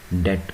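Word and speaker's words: debt: डेट का मतलब कर्जा होता है, बी लिखा जाता है लेकिन ये साइलेंट है, डेट पढ़ेंगे इसको।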